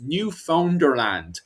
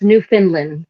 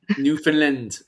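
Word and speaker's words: Newfoundland: then up to quote unquote Vinland, which is New Founderland, which is interesting in itself because if you go to New Founderland today, okay, wait, wait, wait.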